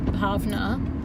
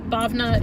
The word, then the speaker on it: Bhavna: people to say no technically my name is pronounced as the paavana but Bhavna is an easy compromise for me to go with I'm very very useful